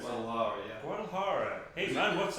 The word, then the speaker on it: Guadalajara: Dave Areola in Guadalajara? Is that how you pronounce it? Guadalajara, yeah.